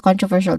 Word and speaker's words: controversial: There's four syllables all in all starting with con. We're very familiar with that, right? This use a short o vowel sound. It is unstressed also.